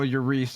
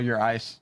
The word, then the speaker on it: Euriece: Oh, I was just saying that for those to be clear, that it's real Euriece on Twitter, not real Eurice, Yeah, exactly. which is a very common, mispronunciation.